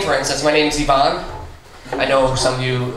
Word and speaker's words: Ivan: It's spelt like Ivan, but pronounced Yvonne. Also, you must mean Ivan.